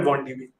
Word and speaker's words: wandb: pip install bond db they actually had a debate on twitter on how to pronounce this i'd be curious to know if others have a different pronunciation of it i call it 1db and then with about